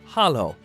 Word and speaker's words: halló: Hello in Icelandic is pronounced halló.